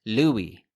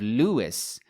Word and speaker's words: Louis: of the name itself personally he preferred that his name be pronounced Louie and he was even registered as Louie spelt le wi e for the 1920 u.s.